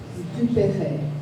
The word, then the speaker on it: Dupre: Dupre is the right pronunciation.